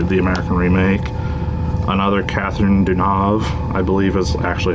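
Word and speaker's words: Deneuve: version that's obviously the american remake another catherine dunav i believe is actually how you pronounce her name um a christmas tale the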